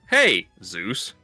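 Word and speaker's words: Jesús: like it just it it's Jesus but it's pronounced in the Spanish is Jesus. And when you don't know how it's spelled you just think oh their name is hey Zeus.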